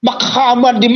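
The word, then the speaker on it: מחמדים: Itu bahasa Ibraninya saya urut dari kanan ke kiri, hurufnya adalah mem het, mem dalet, yot, im. Mem. Jadi bacanya Muhammadim.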